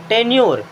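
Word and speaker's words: tenure: टी ई एन यू आर ई, टेन्योर।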